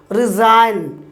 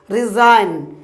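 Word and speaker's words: resign: আর এস আই জি এন রিজাইন রিজাইন রিজাইন মানে হচ্ছে কি পদত্যাগ করা আরেকটি উদাহরণ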